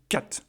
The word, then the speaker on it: cat: Et donc là, par exemple, vous aurez le mot cat. Donc le A, il faut le prononcer de manière bref. Plus bref que le mot date.